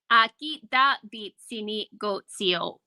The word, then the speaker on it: Aakitaapitsinikotsio’pa: How do we pronounce this, TJ? Aakitaapitsinikotsio'pa.